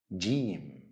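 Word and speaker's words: جيم: here in the hook Gene is easy to pronounce same as letter J in the English word Jam repeat after me Jim J now it's the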